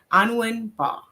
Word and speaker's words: Anwin Mbah: Today's topic is Profit Pathways, Mastering Business Wealth with, and correct me if I'm wrong with the pronunciation of your name, Anwin Mbah.